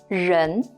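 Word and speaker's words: 人: this component by itself is a character that's pronounced as run Jen means person for example how is good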